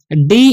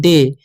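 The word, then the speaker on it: day: हम लोग पढ़ते हैं डे। ए वाई जब भी किसी वर्ड के लास्ट में रहेगा तो ए का उच्चारण हो जाएगा ए, देर तक होगा। ठीक है, तो इसे हम पढ़ेंगे डे।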